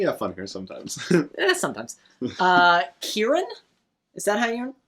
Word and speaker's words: Kieran: Kieran? Is that how that's pronounced? Yeah, Kieran Hines.